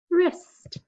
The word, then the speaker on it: wrist: Which letter is silent? The W. What's the word? Wrist. Okay, this one has a few letters you don't really hear, right?